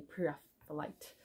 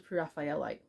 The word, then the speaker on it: Pre-Raphaelite: word to say prite I always thought it was PR raphaelite and then I heard it pronounced by some English people and thought okay if they know how to say it then I guess I got to go along with that so anyway that's what